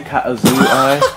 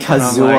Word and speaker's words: Kazooie: Yeah, they were saying Katazooi or something. Kazooi. Like, yeah, that's me, idiot. That's the Kazooi. That's not how you say it.